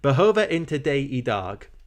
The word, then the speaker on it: Behöver inte dig idag: Behöver inte dig idag. That's how you say it.